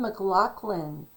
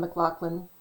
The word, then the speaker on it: McLaughlin: So it's funny because most people will go McLaughlin when it's spelled McLaughlin. They'll say McLaughlin with like an F in there.